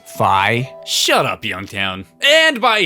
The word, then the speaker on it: Fi: subject Link's companion and guide fee uh isn't it pronounced fi shut up Youngtown and